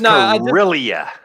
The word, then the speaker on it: Corellia: It's not how it's pronounced. And it's yeah, but it's Corellia. Corellia, not Rel.